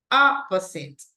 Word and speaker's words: opposite: have like somebody opposite listen to the pronunciation opposite right the stress goes in the first syllable opposite similar similar same